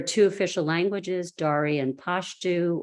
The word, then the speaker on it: Pashto: There are two official languages, Dari and Pashto, or some people pronounce it Pashto.